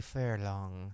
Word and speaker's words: Furlan: We're here with Brittany Furlan, right? That's how I say it.